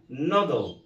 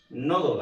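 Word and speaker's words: noodle: بعد كده عندنا نودل. نودل اللي هي الشعريه. اسمها ايه؟ نودل. عملت انا ايه؟ ها؟ ضميت الحرف اللي قبل ال اللي هو حرف الدي، فقلت ايه؟ قلت نودل.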